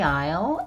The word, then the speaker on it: aisle: 그래서 s 발음 안 합니다.